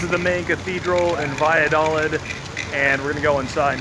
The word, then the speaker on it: Valladolid: Valladolid. Valladolid in the Yucatan Peninsula. The two L's makes a Y sound.